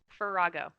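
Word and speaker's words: Ferahgo: Farrago.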